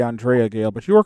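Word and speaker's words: Andrea Gail: the fishing boat the adrea Gale Bobby what is the perfect storm and I realized I butchered the name of that as the Andrea Gale but you are correct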